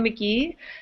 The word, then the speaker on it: McGee: Mac classic I'm McGee my name rhymes with where I'm from Nashville Tennessee it's horrible don't remind